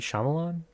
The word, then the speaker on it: Shyamalan: It's going to seem like a mess, but like a Shyamalan Ding Dong's movie. I can never pronounce his last name. M. Night Shyamalan?